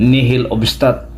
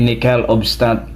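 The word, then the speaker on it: nihil obstat: kapatid at mga kaibigan hindi yun ni Hil obstat yan ay ni kel obstat kasi hindi po yan Bisaya ang pagbasa sapagkat Hindi po Bisaya ang salitang nickel of stat Hindi yan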